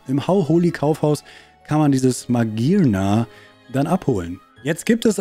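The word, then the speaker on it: Magearna: Ich habe nie nachgedacht, ob Magiana so ausgesprochen wird. Das heißt Magirna? Das ist so logisch, Magirna, weil es...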